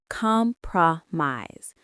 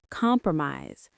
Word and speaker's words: compromise: Let's say it. Compromise. Compromise. Stress on the first syllable. The middle of the word pro is very short.